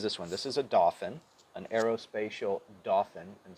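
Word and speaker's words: Dauphin: one this is a dolphin an aerospacial dolphin and spelled d-a-u-p-h-i-n so i can't quite say it right but um coast guard uses these kind of cute because it sounds like dolphin right um so a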